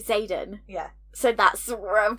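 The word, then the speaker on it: Xaden: said earlier you're like are we pronouncing it Zaden yeah yeah I was like well yeah because that's how you pronounce it honestly you know when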